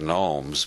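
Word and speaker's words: gnomes: everybody else pronounces that nomes but Harold Wilson believed the G should be pronounced he said the genomes of Zurich these Swiss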